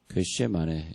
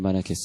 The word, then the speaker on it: 겟세마네: 그래서 원래 발음은 겟쉐마네 이렇게 되어 있습니다. 히브리 발음은 이 사람 겟쉐마네 이렇게 발음하겠습니다. 겟쉐마네. 근데 우리나라 말은 이제 이렇게 발음이 안 하니까 겟세마네 근데 원래 겟쉐마네 이렇게 발음하는데 이 겟쉐마네라는 뜻은 기름 짜는 곳이 되었습니다.